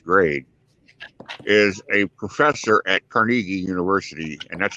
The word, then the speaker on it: Carnegie: from the first grade is a professor at carnegie university and that's how you pronounce it it's not carnegie it's carnegie in pittsburgh he lives in beaver falls so